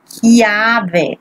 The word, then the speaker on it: chiave: Here you have another H, so chiave, strong, because it's H.